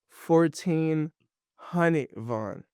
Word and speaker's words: 1400Von: do you pronounce your rap name so you pronounce it it's 14 H Von it's like that 14 V what does that